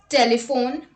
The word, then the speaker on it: telephone: PH is sometimes pronounced like F. Let's look at the examples. Telephone, paragraph, alphabet, epiphany and sophomore.